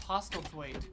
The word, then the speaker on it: Postlethwaite: Postlethwaite.